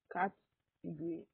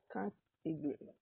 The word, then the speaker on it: category: But the weak O sound in the second and the third syllable makes the word sound really short. So you go category. Category.